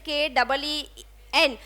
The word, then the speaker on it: keen: But if I say I am very keen on something, so that spelling is that spelling is K-E-E-N. इसको बोलते हैं keen. Long it is pronounced.